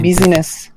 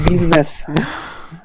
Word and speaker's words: business: something in your pronunciation I think you set some busyness and they are scientific it's business change now you pronounce business people its business business yeah another scientific yeah